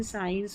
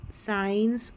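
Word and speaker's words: science: Number 35 पर है SC, इसको स करके प्रोनाउंस करेंगे, जैसे सीन, साइंस और सीजर्स, सीन, साइंस और सीजर्स, SC को स करके प्रोनाउंस करना है, SC को स, ऐसे याद रख ले।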